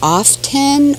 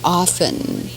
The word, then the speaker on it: often: things written for this how do you say often or often often okay okay some people say often but they're not right ha that's very odd